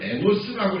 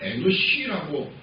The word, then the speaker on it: 에노시: 성경은 에노스라고 이렇게 우리 개혁 성경은 발음을 그렇게 썼지만 원래 발음은 에노시라고 하는 게 맞고요.